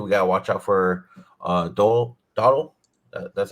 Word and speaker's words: Dowdle: But like you said, dude, we gotta watch out for Dowdle. That's how you say his name, right? Dowdle, yeah, Rico Suave.